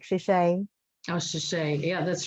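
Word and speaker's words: 谢谢: Well, you could say it in Mandarin. It's like shishay.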